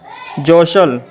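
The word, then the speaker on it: jostle: एल ई वसल जे ओ एस टी एल ई जसल सी ए एस टी एल ई कासल पी ई एस टी एल E Peshal तो देखा दोस्तों इन सभी शब्दों के अंत में एस टी एल ई आया है इसलिए दोस्तों इन शब्दों में टी साइलेंट है तो ऐसे शब्दों में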